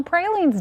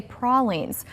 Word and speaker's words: pralines: It is National Pralines Day. Yeah. Opinion on how to pronounce it though is divided. Some people say pralines. That's what I say. Others say prins like our producer who's wrong.